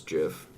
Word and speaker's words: GIF: the Spanish I guess if the creator says it's jiff person who sent microphone